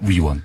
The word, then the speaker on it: 위원: 의원이 아니고요. 위원입니다. 위원.